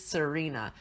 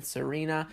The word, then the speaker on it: Tsareena: This is Tsareena. Now I'm guessing it's pronounced Tsareena because there's a T and then Tsareena, and usually the T before an S is silent, so I'm going with Tsareena.